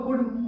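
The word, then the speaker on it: could: सी ओ यू एल डी। तो इसको क्या पढ़ते हैं हम लोग? कुड पढ़ते हैं। और इसमें क्या होता है? जो एल लेटर है वो क्या होता है? साइलेंट होता है। तो इसका कुड का भी मतलब क्या होता है?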